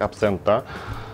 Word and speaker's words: Absenta: тема это абсент xenta accento accento именно так произносится по-итальянски и названия данного бренда в италии произносится абсента именно так абсента вот кто не знаешь